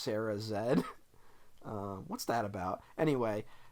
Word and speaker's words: Sarah Z: is Sarah z um oh I think she's Canadian so it's pronounced Sarah Zed um what's that about